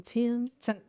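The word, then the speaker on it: Tems: And I think you pronounce her name Tim. T-E-M-S.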